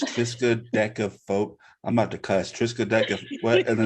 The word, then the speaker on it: triskaidekaphobia: This is the fear of the number 13 that Miss Byers could pronounce very fluently. I couldn't, but was it triskaidekaphobia?